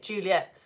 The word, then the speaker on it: Juliet: So an actor reading this would know, okay, Juliet, I'm going to say that as kind of two syllables, not three.